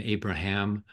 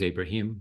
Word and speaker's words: Abraham: is uh identified as my name Abraham even though my the name that I actually pronounce is Abrahim but nonetheless it's under